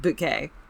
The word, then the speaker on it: Bucket: So what our Tiffany Bucket, and for those of you into British TV, her aunt absolutely pronounced it bouquet.